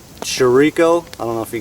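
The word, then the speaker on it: chouriço: that or not uh shisu is another way it's pronounced a lot of Portuguese people leave the O's off the end and just call it Sharice so uh very very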